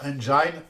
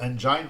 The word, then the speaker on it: engine: bien Search Engine Optimization je vous mets en garde pour certaines prononciations en anglais qui sont pas du tout évidentes on entend parfois à tort un search engine donc on ne dit jamais engine on dit search engine c'est vraiment le la